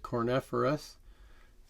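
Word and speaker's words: Kornephoros: triangle on it and this star is called cornetheros spelled with a k you can see a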